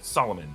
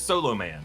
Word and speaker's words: Solomon: Now, Shazam Billy doesn't know how to pronounce Solomon. He says Solo Man.